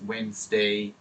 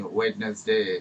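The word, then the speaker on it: Wednesday: Country, environment, ওয়েনসডে, ওয়েনসডে, ওরা কিন্তু ওয়েনসডে বলবে, তো আপনি ওয়েডনেসডে, এভাবে বানানটা এটা, কিন্তু এটা উচ্চারণ প্রোনাউন্সিয়েশন হচ্ছে ওয়েনসডে।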